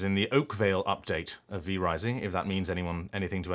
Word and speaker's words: V Rising: I am in some DLC or expansion of V Rising. Not The Rising, V Rising.